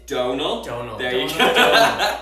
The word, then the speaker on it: Donal: it to you for saying my name it's Donal don't know they're also gonna give you get